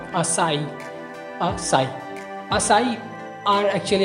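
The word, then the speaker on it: açaí: इसकी सही प्रोनाउंसिएशन है एक्चुअली असाई।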